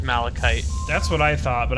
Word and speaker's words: malachite: tethers Brian if you need some it is malachite by the way I just looked up the proper pronunciation okay so we were right then okay